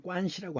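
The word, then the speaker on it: 關係: 그 다음에 음은 좀 다르지만 이 관계를 중국에서는 관시라고 합니다. 관시. 그러니까 이 관을 중국어로 보면 관이라고 읽어요.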